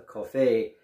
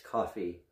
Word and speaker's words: Cuffee: commemoration of paul coffey i had been pronouncing it today as a coffee as part of a french but it's coffee i'll tell you a